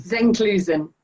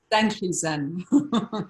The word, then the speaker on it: Zenklusen: So, tell me how we properly pronounce your name. It's Zenkelson. Zenkelson. Zenkelson-Payne.